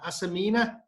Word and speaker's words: Asamina: Just before we deal with the question, can you pronounce the name of the trail referee? Is it Asamina?